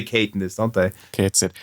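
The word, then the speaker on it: Cait Sith: to get it right I say cat Sith but it's Kate it Kate it oh yeah they do say Kate in this don't they Kate it it's actually uh it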